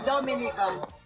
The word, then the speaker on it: Dominica: oh we call it dominican it is spelled d-o-m-i-n-i-c-e it is not dominican republic it is pronounced dominica and the situation between